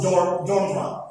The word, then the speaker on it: genre: It's G-A-N-R-E, but actually we pronounce it genre.